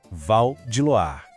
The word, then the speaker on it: Val de Loire: A pronúncia aqui é sobre fluidez, sobre deixar o som correr. Val de Loire. O Val é rápido, direto. Em Loire, a combinação OI tem um som de UA.